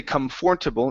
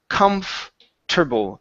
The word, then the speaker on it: comfortable: The O R is not pronounced. We do not say comfortable. It's comfortable.